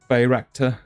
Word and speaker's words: Bayraktar: Bayraktar. I wasn't pronouncing it right. Bayraktar TB2.